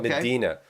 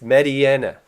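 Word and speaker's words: Mediena: Okay, I was in your stream last week and you said Medina, and I wiped the Cheetos off my keyboard and I said it's Mediana.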